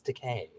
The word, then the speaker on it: Takei: like just whom George Takei George Takei I love I love I love jerk-off I left George Takei because he says it's not too high it's decay because it rhymes with gay oh ma ma that's